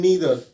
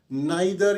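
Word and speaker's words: neither: तो मेरे स्टूडेंट्स, मेरे लर्नर्स, मैं आपसे ये बोलूँगा कि नाइदर या आइदर मत बोलिए, है ना, ये प्रोनाउंसिएशन ठीक नहीं लगता। सो हम लोग नीदर या ईदर बोलेंगे, है ना, तो अच्छा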